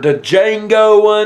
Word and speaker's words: Django: to Christopher Waltz for Django Unchained the D is silent I know the D silent you don't have to